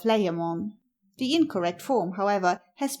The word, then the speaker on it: Layamon: It may be remarked in passing that the ambiguity of pronunciation of this letter has misled modern writers into calling the author of the Brut Layamon instead of Layamon.